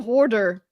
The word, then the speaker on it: hoarder: cuz I I'm a hoarder okay I know I can't say it South African pronunciation is hor but I'm a I'll put it try and be American about it I'm a hoarder